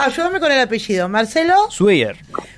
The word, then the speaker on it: Swier: Marcelo Sweyer. Esbier se pronuncia.